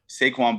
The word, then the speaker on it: Saquon: But yeah, you said it right. That's his name, right? Saquon? I don't know. I don't know if he prefers it Saquon or Saquon. So I would say Saquon, but that's just me though.